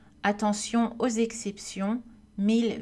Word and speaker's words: mille: Mille villes tranquilles et à leur dérivée prononcée avec la consonne L.